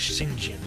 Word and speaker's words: St. John: Actually, I've heard the proper pronunciation of his last name is Shing Jin, but I can't say